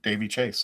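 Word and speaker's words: Daveigh Chase: Dave Davey Chase.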